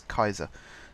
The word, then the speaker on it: Caesar: very much Latin and Caesar we all say Caesar because I should pronounce Kaiser so I think that's